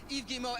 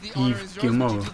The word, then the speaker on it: Yves Guillemot: CEO and co-founder of Ubisoft, Yves Guillemot. Everyone please, Yves Guillemot. What a guy. How'd you say his name? Yves Guillemot.